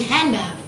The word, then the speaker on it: handbag: not pronounced for example most american english speakers do not pronounce the d in handbag so the d they